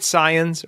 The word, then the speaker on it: Saiyan: Saiyans or Saiyans?